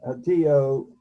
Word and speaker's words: Hatillo: area of Puerto Rico, which I believe is pronounced Hatillo, is that correct? Yes. In Hatillo, uh, you experienced quite a bit of the effects of the Hurricane Maria, that was over 2 years ago.